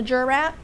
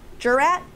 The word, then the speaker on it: jurat: guys know the difference between an acknowledgement and a jurat?